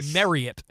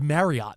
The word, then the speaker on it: Marriott: chain actually said, technically, you're supposed to say it the way it would rhyme with Elliot, like Marriott, like it's Marriott.